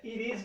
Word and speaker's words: it is: E é it is mesmo, esse T acaba se transformando num R.